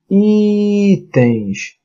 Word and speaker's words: itens: A palavra itens. Melhor. Itens. Qual é a sílaba tônica? I.